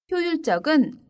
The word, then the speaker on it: 효율적: 그리고 발음도 아까 전에 계획적처럼 효율적 이렇게 발음합니다.